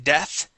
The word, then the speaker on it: death: Make sure you pronounce that TH in death.